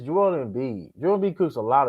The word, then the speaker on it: Joel Embiid: And here's the thing: even if you want to say his name, it's Joel Embiid.